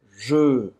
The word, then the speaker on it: je: Não é G, é Je.